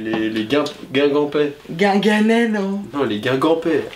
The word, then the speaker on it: Guingampais: À part je les sais pas, Guinganais. les Guingampais.